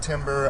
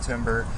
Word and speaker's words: timbre: It's spelled timbre. I've heard people pronounce it timbre.